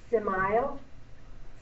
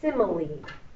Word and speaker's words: simile: you to remember that that's a hard e on the end a long e and you say simile I like to remember